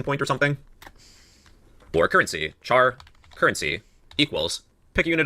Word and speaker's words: char: Then the next data type we have is char meaning character. Char pronounced like the word charizard.